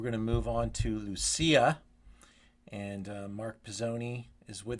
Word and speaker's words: Lucia: Forget those pronunciations, Ian. So Yes. I'm Mark Pizzoni. Our family produces a wine called Lucia. Lucia is our main label that we do, all from our estate fruit.